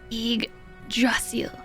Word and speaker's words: Yggdrasil: Correct pronunciation, good song. Yggdrasil.